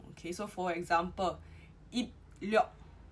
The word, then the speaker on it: 입력: Now if the B is followed with an L, okay, so for example, 입력. 입력 is pronounced as 임력.